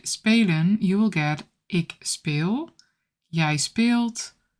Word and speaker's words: speel: If you see a double vowel, it's a long sound.